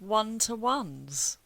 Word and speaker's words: one-to-ones: It's starting with one to ones, which sounds like a W word, but it isn't. It's an O word.